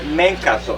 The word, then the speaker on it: Mencatto: Did I pronounce that right? Almost there, Mencatto, almost there.